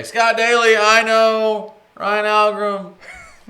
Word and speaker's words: Algrim: Okay, Algrim, right?